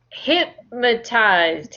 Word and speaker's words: hypnotized: Have you ever been uh, have you ever been hypnotized? Hypnotized. Hypnotized. Think of your hip. You know, Hip, on your waist, you have a hip. It's the same pronunciation.